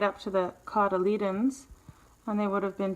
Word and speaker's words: cotyledon: in the indoor greenhouse I checked the pronunciation and it's cotyledon cotyledon by the seedling leaves